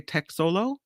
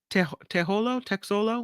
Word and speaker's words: Texolo: Cascada de Texolo. You pronounce the X in Espanol. Cascada de Texolo waterfall.